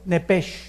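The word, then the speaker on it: נפש: la palabra alma es nepes en el hebreo apúntalo nepes se pronuncia nepe porque la ch en hebreo es nep y la palabra espíritu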